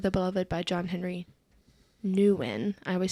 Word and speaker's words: Newman: I always say Newan.